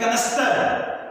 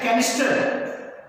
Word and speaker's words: canister: है, उसको बोलते हैं कनस्तर। हम लोग बोलते हैं कनस्तर। असल में उसका प्रोनाउंसिएशन है कैनिस्टर, बिगाड़ के मैं कह दिया कैनिस्टर, ठीक है।